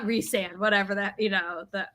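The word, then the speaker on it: Rhysand: Ry sand it's not reand whatever that you know that that argument oh yeah and it's reand right it's supposedly reand but I think Ry sand sounds better rice sand yeah it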